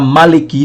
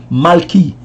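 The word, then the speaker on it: מלכי: Se você é do tipo que gosta de transliterar hebraico, vai ficar mais ou menos assim, ó. Maleki. Mas pronunciar Maleki fica estranho, né? Maleki. Então você, embora esteja escrito Maleki, a pronúncia é Malki. O E não vai aparecer, o E vai ficar quase oculto ali. Então é Malki.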